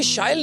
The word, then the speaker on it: Shail: So as you just said, it rhymes with style।